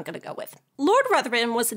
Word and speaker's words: Ruthven: There are many ways to pronounce this name. It's technically a Scottish name, so it should be Riven or Ruthven, but most people pronounce it Ruthven, so that's what I'm going to go with.